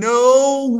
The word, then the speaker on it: know: I don't know what to do. I don't know what to do. Okay. لما يجي بعدها أنت تبقى الكي سايلنت ما ننطقهاش.